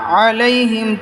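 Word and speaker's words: عَلَيْهِمْ: গাইরিল মাগদুবি গাইরিল মাগদুবি আলাইহিম আলাইহিম হবে না আলাইহিম চাপ দিয়ে বলতে হবে গাইরিল মাগদুবি আলাইহিম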